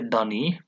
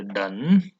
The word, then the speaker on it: done: You don't say dunny, you say done. The E is silent.